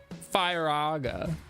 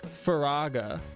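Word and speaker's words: Firaga: F I R A G A cuz I've always pronounced it Faga. But like that's not right. I just recently came to that conclusion. Yeah, it'd be more like Faraga would be more like correct, right?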